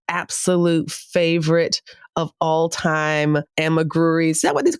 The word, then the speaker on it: amigurumi: Say it again. Amigurumi. And listen, y'all, I was calling it amigurumi. Okay. And she kept saying that it's not right, that these have way more syllables than I am giving it. So it's not a roomy groomy. What is it again?